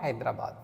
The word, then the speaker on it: Hyderabad: Now you will say, sir, Hyderabad, H is not a vowel, but in French language, H here is a silent. All right. So when H is silent, we have to consider it as a vowel sound.